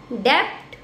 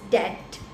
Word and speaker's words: debt: नाउ ये हमने 3-4 words और ले लिए, then it will be आवर 17th word which is डेप्ट. नो इज डेट. B will be silent.